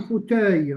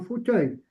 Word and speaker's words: fauteuil: On dit pas un fauteuil. Non, on dit un fauteuil.